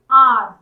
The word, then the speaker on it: hour: I have been waiting for an hour। आ बोलते हैं, इसमें एच साइलेंट होता है, यहाँ साउंड कॉन्सोनेंट से चालू है, लेकिन एच यहाँ पर साइलेंट होता है।